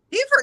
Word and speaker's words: Beaufort: Beaufort, no, you got it.